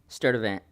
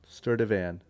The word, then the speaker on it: Stirdivant: Stirdivant. Sturdivant. Stirdivant. Sturdivant. Just how it's spelled.